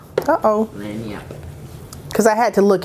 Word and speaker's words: Lagniappe: Lagniappe. Because I had to look it up. Lagniappe, because the G is silent.